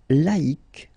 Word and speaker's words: laïque: Second example, laïque, laïque. So you need to modify it. Yes, you need to take away the C and then put QUE, but then phonetically, if you pronounce it, you pronounce it exactly the same way.